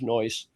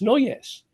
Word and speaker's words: Noyes: trying to tell people my name was Noyes, and they looked at it and said, no, it isn't. It's Noyes. That's the way you pronounce it. So they caused that. They caused the syllable. They won. Okay. Yeah. I always thought it was 2 syllables.